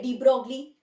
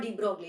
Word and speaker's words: de Broglie: Yeah, just like how people say de Broglie, right? It's not de Broglie, it's de Broglie.